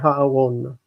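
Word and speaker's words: הָאָרוֹן: Shofrot hayovlim lifnei ha'aron. Okay, ha'aron. Notice that aron is normally with a reduced vowel, aron, but when it takes the article, it's ha'aron. Kamatz, like ha'aretz.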